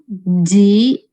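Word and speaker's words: ぢ: Da, ji, zu. T pakai teng-teng jadinya d. Kalau to pakai teng-teng jadinya do. Jadi da, ji, zu, de, do. Bukan da, di, du, de, do.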